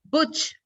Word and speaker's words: Butch: here with Butch. Is that how you pronounce it?